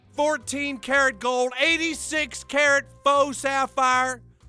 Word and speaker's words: faux: 14 karat gold, 86 karat faux sapphire. Faux is a French word. It's got an X in it, but you don't even pronounce the X.